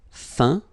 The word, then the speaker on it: feint: Feindre, feint. Peindre, peint. Teindre, teint. Okay, as usual, final T not pronounced.